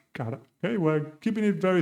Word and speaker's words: cara: The sound is r, no r. So cara would be the right pronunciation here.